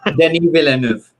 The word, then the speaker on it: Denis Villeneuve: Speaking of Denis, I can never pronounce this guy's name. Go on, Sean, what's his name? Denis Villeneuve.